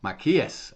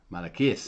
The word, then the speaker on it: Maiaquais: Maiaquais. Okay. Maiaquais. Maiaquais. It's like Malachi, the equivalent of Malachi.